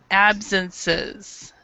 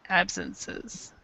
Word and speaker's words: absences: a very common issue when you have an S and then e s we actually pronounce the S so it's businesses and then absences absences excellent so okay number